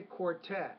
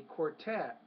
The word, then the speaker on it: quartet: be starting the concert I would say quartet the quartet the stress on that second syllable not the first southeast